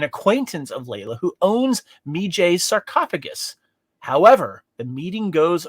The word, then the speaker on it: Medjay: that you chase me how how do you say it me jay me jay all right it's good